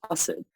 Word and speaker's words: Asad: is because at home the way that my family pronounces my name is arson and assad is the um i guess the more urdu or hindi way of saying my name because a's have more of a u sound but to process that